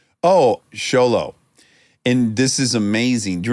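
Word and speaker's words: Xolo: movie yeah Blue Beetle Zolo sounds right sholo z w Lolo I think it's sholo I got a pronunciation right here okay Ray Romano we're getting a pronunciation Zolo Mari it's not Zolo I mean it probably is technically Zolo that's not what his name was on set okay Reay Ray Romano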